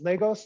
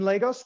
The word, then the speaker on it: Lagos: going to be about lagos nigeria it's pronounced i think more or less lagos not lagos just in case pro tip i got it wrong a lot so an overview of